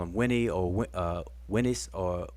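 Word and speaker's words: Unas: in ancient Egypt, they call him Winnie or Winnis or Unes, right? But his name is Winnis.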